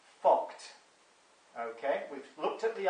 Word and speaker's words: FCUKT: And that is something called a financial commercial UK transaction tax, yeah, FCUKT, which is pronounced FOCT.